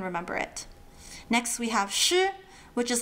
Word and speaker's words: ㄕ: Next we have sh which is like when you say mushroom and get rid of the m and the so m shroom sh the pinging is sh